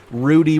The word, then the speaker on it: Rudy: whimper dropping R Rudy the community has spoken as far as how to say his name it is Rudy we're not going to deal with rero or Rudder or rudo or whatever it's just Rudy super super simple and notice here blind